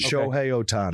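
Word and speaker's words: Ohtani: I don't want to mispronounce it. Show Otani.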